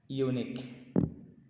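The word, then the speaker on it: eunuch: এখানে silent letter রয়েছে, তবে এটা অনেক কঠিন একটা শব্দ উচ্চারণ করতে, আপনি যদি পড়ে উচ্চারণ করেন তাহলে আপনি মাথা ঘুরিয়ে যাবে।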